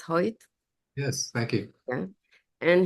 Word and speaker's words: Hoyt: It's pronounced Hoyt.